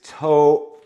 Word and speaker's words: toe: Lee got on his toe oh oh oh pronounce this word pronounce this word do right the E gives its power to the O we hear the long sound toe we cannot say over